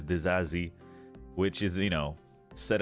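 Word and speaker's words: Disasi: uh the new signing apparently you say his name desazi yeah something like that I mean I would pronounce it to sassy The Sassy yeah that's what I was saying too but apparently it's the zazi which is you know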